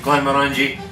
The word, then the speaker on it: Glenmorangie: It rhymes with orange. Orangey, Glenmorangie.